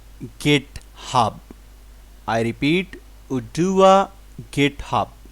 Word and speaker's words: Oduwa: decentralized network the most trusted valid to store udua coin and also a staking machine for node